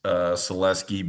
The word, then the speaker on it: Saluski: My last name is pronounced Selewski, but spelt as Saluski, but I go by all forms of that last name spelling.